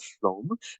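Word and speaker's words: Flåm: Flo it looks like flam l a m but that a with a circle on the top in Norwegian is pronounced o so that's why I'm calling it Flo instead of flam uh we will immerse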